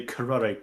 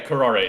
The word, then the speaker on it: curare: Yeah, Karare is the way it's pronounced.